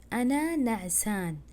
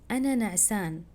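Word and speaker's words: أنا نعسان: কিন্তু আরবিটা কি হবে, আসলটা হচ্ছে আনা নাসান, না, হ্যাঁ এখানে এন হবে, নাসান যে চিহ্নটা আমরা দিয়েছি বাংলাতে এটার মানে হচ্ছে এন, এটা খেয়াল করবেন। আনা নাসান, আপনার যদি ঘুম এসে থাকে আপনি কাউকে বলবেন আনা নাসান।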